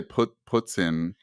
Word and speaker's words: poutine: I was talking about this massive poutine. Well, I guess I should say puts in, if we're pronouncing it the proper way.